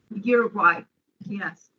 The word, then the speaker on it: Uruguay: Am I pronouncing the name of the country correctly? Uruguay, yes.